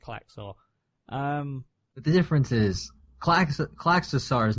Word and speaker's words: Klaxosaur: People have both been saying Klaxar rather than Klaxosaur this whole show.